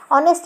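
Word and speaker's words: honest: अब देखो ये हॉनेस्ट पढ़ेंगे अपन, अगर पहली बार पढ़ रहे हैं, कभी पढ़ा नहीं तो हॉनेस्ट नहीं है, ऑनेस्ट है, मतलब एच का कोई यूज़ नहीं आया सुनने में, तो एच यहाँ साइलेंट है।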